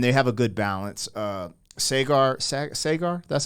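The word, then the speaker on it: Saagar: Sagar, that's how you say his name, kind of leans a little bit right, and Crystal definitely leans left.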